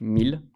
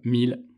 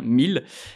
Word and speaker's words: Miele: professionnels de la marque miele exactement et vous remercier de l'avoir prononcer correctement puisque parfois nos consommateurs en lisant la marque prononce miel et effectivement ça se prononce à l'allemande 1000 bons pour rien cacher